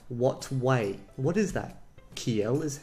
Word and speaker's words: kiel: So that's pronounced as KIEL.